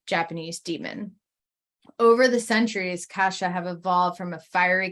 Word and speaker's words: Kasha: Yes, not Kesha. Oh. Kasha is what I'm going to pronounce it as to create a difference.